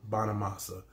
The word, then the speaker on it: Bonamassa: Now it says Joe Bonamassa, right? That's how you pronounce his name. Joe Bonamassa.